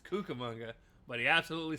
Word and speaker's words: Cucamonga: Um, when he did announce them, he said that they were from Kakamonga, which is not how it's not how it's pronounced. No, it's Cucamonga. It's Cucamonga.